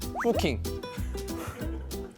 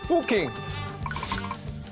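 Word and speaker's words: Fucking: 미국 사람인데 포킹. 이거 어떻게 아 어떻게 이러냐 이게 합성 아니에요? 어 하지만 설마 진짜 마을 이름을 욕설로 지었겠습니까? 독일식으로 읽으면 오기자가 말한 것처럼 후킹이라고 발음하는데 욕설과는 전혀 관련이 없습니다.이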